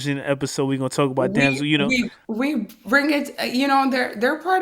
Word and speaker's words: Damso: And then the last, I know I keep saying the last word, but the last word is Damso. Am I pronouncing it right? Damso? Damso.